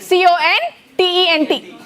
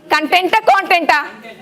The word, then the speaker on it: content: Spelling, C-O-N-T-E-N-T. Same spelling. Spelling same. Then two ways of pronouncing. Meaning. Telsa teeda. Edi matter? Content.